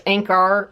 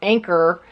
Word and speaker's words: Anker: thirty are from anchor i actually pronounced that in the past this ain't car I think that's just my dialect but I believe it's Inc our anchor like a boat anchor they make fantastic batteries